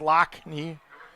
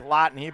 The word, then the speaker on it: Lottani: they want to pronounce loch knee that's the traditional pronunciation even though it is spelled more like lottany but after that uh